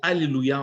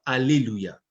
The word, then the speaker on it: hallelujah: vous allez apprendre que on ne peut pas prononcer le mot hallelujah en disant alléluia il faut mettre 1 h devant le a et 1 h et